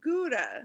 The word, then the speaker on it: Gouda: Yeah, but also in the Netherlands, in Dutch, where Gouda is, that's not how it's pronounced. How's it pronounced? Gouda. Not to put you on the spot. Gouda? Yeah, but you roll the G.